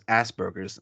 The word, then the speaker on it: Asperger: Asperger's, It's a German name, Asperger. As, Asperger, Asperger's. Yeah, and I can't It's pronounce it. Asperger syndrome. It's got an apostrophe. The S is an apostrophe. It's All right. Asperger syndrome.